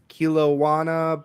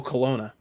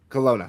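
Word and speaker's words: Kelowna: Edmonton, Alberta and uh Kilawana. British Columbia. Oh, Colona. Colona. Thank you.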